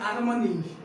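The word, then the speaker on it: Armani: लुइज विटान, LINCOLN, लिंकलन, UBER, ALTERNATIV, alternative, ANTARCTIC, Antarctic, Antarctic, DIOR, Dior, या Dior, ARMANA, आर्मनी, या यस, EUES, sorry, YUES, यूस है या इस है या यू है, SAINT, सेंट, ये क्या है?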